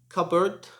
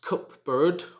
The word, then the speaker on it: cupboard: this should be pronounced cupboard cupboard it should not be pronounced cup bird or cup board the p in this word is silent like please can you